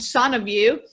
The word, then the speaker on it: SanaView: We have a son of you, which you're one of the few people that pronounce that correctly, by the way. Son is Latin for wellness.